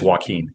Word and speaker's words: Jacquin: It's just spelled weird. My mom got creative with my spelling. It is Joaquin.